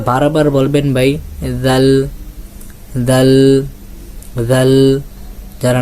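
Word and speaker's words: ذال: জাল হরফে চলে যাই জাল একটা নরম হরফ নরম হরফটা কিভাবে উচ্চারণ করবেন উপরের দুইটা আগার সঙ্গে আপনার জিহ্বার আগাটা লাগান লাগিয়ে বলেন জাল জাল যারা পেরেছেন অবশ্যই কমেন্টে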